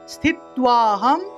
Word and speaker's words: স্থিত্বাহম: একাদশ্যাম নিরাহারঃ, একাদশ্যাম নিরাহারঃ স্থিত্বাহম স্থিত্বাহম অর্থাৎ স্থিত্বা এবং অহম একসাথে বলতে হবে।